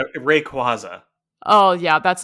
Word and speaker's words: Rayquaza: So it's Rayquaza. Oh, yeah, that's not what it's spelled here.